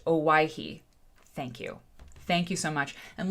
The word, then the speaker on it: Owyhee: Auntie Ann says it's pronounced Owyhee.